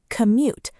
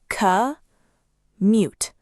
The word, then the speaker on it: commute: The word is commute. Let's break it into syllables. Ca mute. Commute. As a verb, we say commute to work.